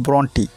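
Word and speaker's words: Brontë: দা mist আপন hill কবি Emily gen ব্রন্টি কেকো ব্রন্ট বলেন আবার ওর কেকো ব্রন্টি উচ্চারণ করেন যাই হোক এমিলি জেন ব্রন্টি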